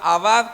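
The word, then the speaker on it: עבד: Eh, la palabra servicio es la palabra abad con acento en la A.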